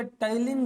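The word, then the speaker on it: ptyalin: Salivary amylase या टाइलिन जो है ये बाहर चला गया है ना, स्लाइवरी अमाइलेज या फिर इसे हम लोग कहते हैं टाइलिन, पी साइलेंट है टाइलिन।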